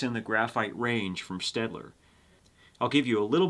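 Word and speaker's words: Staedtler: In fact, that is a German name, and I may well be mispronouncing it, but I say Stedler, and they've been manufacturing in Germany since I think the 18th century.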